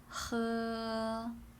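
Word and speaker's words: 喝: practice is to drink which is H E how do you pronounce that think about this song and then think about Tom huh right huh is to drink next a one-meter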